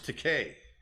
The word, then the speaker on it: Takei: it was voiced by george takei rhymes with okay how do the animators